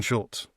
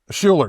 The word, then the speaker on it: Scheler: the true fullback, Jackson Schulz. Scheler, excuse me. Jackson Scheler. Why did I say Schulz? Scheler. And why? I got his name wrong.